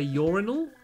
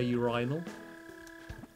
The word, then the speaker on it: urinal: Oh yeah, I think in America you say urinal, and then in England we say urinal.